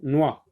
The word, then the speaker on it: noix: Une noix, noix, noix. Noix, regardez, la lettre X ici ne se prononce pas, c'est une lettre muette.